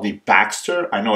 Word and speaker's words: BXTR: again it's called the Baxter I know it's spelled b-a-b-x-tr some people think it's the Boxster but it's actually called the Baxter and that is because of the inspiration behind this particular model now something else that